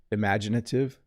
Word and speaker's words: imaginative: me repeat that word it's a little hard to pronounce imaginative imagination imaginative i barely say the first vowel don't i imaginative i